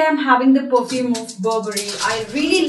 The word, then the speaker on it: Burberry: The right way to pronounce this word, which is very beautiful, Burberry. Yeah, the way is, actually I am having the perfume of Burberry.